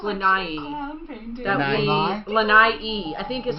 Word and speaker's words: Lanai: Maui and then we went I think it's pronounced lanai lanai II I think is how they say